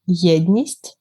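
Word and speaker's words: єдність: to my mind um it's uh pronounced like yednist which means unity and i think like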